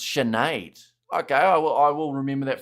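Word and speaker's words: Sinéad: It's pronounced Sinead.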